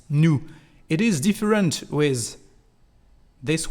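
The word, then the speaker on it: nous: proper subject which is new new Su new Su to translate we are and as you can hear we don't pronoun the letter S at the end of new new Su and is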